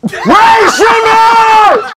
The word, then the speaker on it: Rae Sremmurd: Rae Sremmurd rhymes with Gray Lizard. Rae Sremmurd!